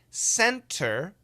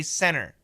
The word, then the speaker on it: center: Center, that's perfect pronunciation. If we say it fast, in America, we say center, center. The T is gone.